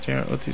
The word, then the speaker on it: JROTC: JROTC?